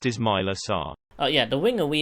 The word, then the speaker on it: Ismaila Sarr: Pronounced Ismaila Sarr.